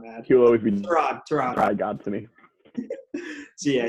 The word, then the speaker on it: Tyrod: So don't want to get Tyrod mad. He'll always be Tyrod God to me.